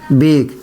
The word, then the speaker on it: bake: BAKE, बेक, ई silent रहता है।